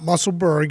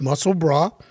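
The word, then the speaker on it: Musselburgh: of mussel broth so i mispronounced it earlier it's not musselburg it's muscle bra i stand corrected that's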